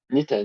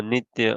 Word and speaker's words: nitya: Can you explain what does Nita does in the What does? uh I, I'm not sure if I'm pronouncing it right. It's like Nita does or something like that. Oh, Nitya, okay.